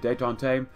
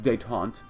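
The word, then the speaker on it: détente: I said detente. It's detente.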